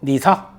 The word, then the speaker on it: NISA: 일본 증시를 떡상시킨 주역 니사, 일명 니사라고 읽어요. ISA 이니셜 똑같고 N은 니뽕 일본이란 뜻입니다.